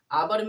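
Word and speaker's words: hour: आवर में एच से होता है एच ओ यू आर होता है आवर। तो हम लोग एच को देख के अगर ए लगाए इसमें आर्टिकल तो गलत हो जाएगा। इसमें एन आवर होगा।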